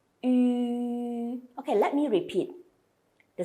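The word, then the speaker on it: ü: And just you need to pay extra concentration on the last one, which is a U with the two dots on top of the U. The pronunciation is like oo.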